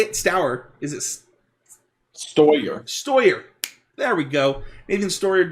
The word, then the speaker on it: Steuer: Steuer.